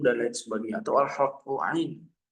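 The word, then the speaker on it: ع: Ain itu sifatnya di mana? Ada yang tahu huruf ain di mana sifatnya? Makhrajnya di mana? Tenggorokan. Di mana? Ain? Tengah tenggorokan. Tengah tenggorokan. Tenggorokan. Tapi ada sebagian dari kita yang baca ngan masuk ke hidung.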